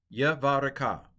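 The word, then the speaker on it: יְבָרֶכְךָ: Vayomaru lo Yavarek so Yavare see, this is a silent schwa. Yavareka. Yavareka.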